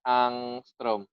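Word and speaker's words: ångström: Dibacanya angstrom.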